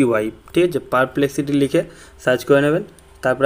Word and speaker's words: Perplexity: নাম হচ্ছে ভালোভাবে শুনে নেবেন অ্যাপটির নাম হচ্ছে পারপ্লেক্সিটি ঠিক আছে তো আমি বানানটা বলে দিচ্ছি আমি স্পেলিং বলে দিচ্ছি সেটা হচ্ছে পি ই আর পি এল ই এক্স আই টি ওয়াই ঠিক আছে পারপ্লেক্সিটি লিখে সার্চ করে নেবেন তারপর আপনি পেয়ে যাবেন